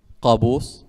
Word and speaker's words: Qaboos: Qaboos.